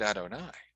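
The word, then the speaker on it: אדני: of exodus 4 1 i said adonai i didn't pronounce it as it was written what's up with that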